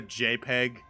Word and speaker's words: JPEG: Did you just fucking pronounce every letter a JPEG? What? JPG? Yeah. Why? It's JPEG. I said .jpg. Yeah. You don't sound out every letter.